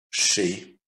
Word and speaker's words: chez: ET, ER произносится как E, EZ произносится как E, ET произносится как E. Répétez, chez, les, mais, répétez, répétez, fêtez, déménager, emberger, sécher.